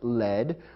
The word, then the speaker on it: lead: However, there's another word pronounced led, which is spelled the same as lead, L-E-A-D. This lead is a noun describing a kind of metal.